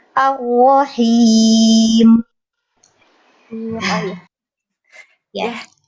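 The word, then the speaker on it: الرحيم: Hanya saja mungkin sedikit koreksi untuk tanda kasroh itu diperjelas, bibir bawahnya turun, him. Pada Ar-Rahim, Ar-Rahim, Ar-Rahim.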